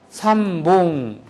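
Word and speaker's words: 三本: 볼펜 세 자루, 삼봉.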